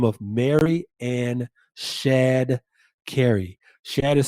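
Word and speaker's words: Shadd: a woman by the name of mary ann shad kerry shad is spelled s-h-a-d-d mary ann shad carrie lived from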